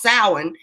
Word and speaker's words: Samhain: It's spelled Samhain, but it's pronounced Samhain.